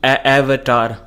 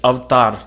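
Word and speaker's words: अवतार: so it is like when britishers came to in India a couple of centuries ago they were not able to pronounce the words correctly and they took it as as they were able to pronounce it avtar simple word clear a v t double r avtar or avtar Avatar man English is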